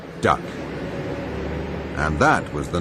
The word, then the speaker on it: DUKW: The best that the American GI could make of the unpronounceable DUKW was duck.